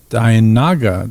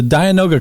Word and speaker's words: dianoga: you watch that fountain there's a dianaga that noga i know i was going to say it wrong there's a dianoga creature who was the